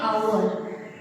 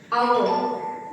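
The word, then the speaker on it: hour: सो अह बट in this there is a twist and that the twist is like some words like आवर आवर the spelling of आवर is starts begins from H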